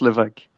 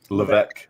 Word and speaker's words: Levesque: It's pronounced Levesque. Levesque.